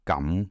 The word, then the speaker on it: 咁: Remember, 咁 in 咁貴 is pronounced in the third tone, expressing surprise.